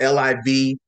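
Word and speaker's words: Liv.e: name is Liv, but it's spelled L-I-V period E. L-I-V dot E, but it's pronounced Liv.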